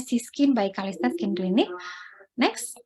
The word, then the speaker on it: CYSKIN: Siskin ya, bacanya Siskin by Kalista Skin Clinic.